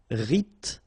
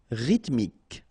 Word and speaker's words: rythmique: Remember, Y pronounced like I and then H doesn't exist. Rythmique. Rythmique.